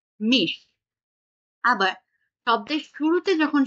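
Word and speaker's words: mich: আর এটা কি ই এর পরে আছে তেহাটা, তাই এটা উচ্চারণটা হবে হচ্ছে মিশ।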